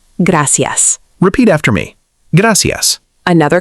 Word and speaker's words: gracias: Many learners pronounce gracias like gracious. More natural pronunciation, gracias.